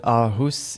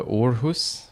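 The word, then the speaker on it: Åhus: I was told that ahus is pronounced differently it's it's closer to orus or something like that I it's like trying to say oh my God apparently um the part of O is orus something like that so yeah that's the proper pronunciation um I'm probably still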